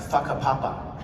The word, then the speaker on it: Whakapapa: The thing about how you spell it, but it's pronounced Whakapapa.